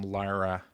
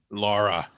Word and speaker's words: Lara: Greg I know that you do enjoy some Lyra Croft Lara Lara Lara right get that joke um